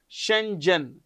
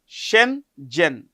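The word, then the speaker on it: Schengen: will fully join the European union border area Shenzhen how do you pronounce this shenen shenen please remember this shenen area on 1st January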